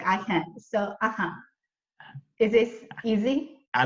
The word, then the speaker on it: AHyun: It's hard to pronounce, but maybe if you sound my name out, it isn't even that hard to pronounce. So you just need to remember, like aha moment. My name is like AHyun, so Is this easy?